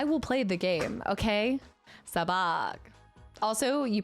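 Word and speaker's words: Sabacc: Sabak. Also, you pronounced it right. Sabach.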